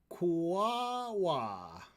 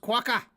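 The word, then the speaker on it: quokka: __ ] kangaroo siding kuawa it's pronounced quaka so you're gonna need to get that right qu so this this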